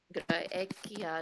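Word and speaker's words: Graecia: Italia Europa s mhm Gra graia graia it's a hard SE okay is it all hard SE yeah so we use to restore pronunciation so in restore pronunciation every letter has only one sound okay okay in class in ecclesiastical pronunciation would be G would be a little bit different okay don't worry so gra ecclesiastical so ecclesiastical would be hard see classical would be like the English C mhm okay more or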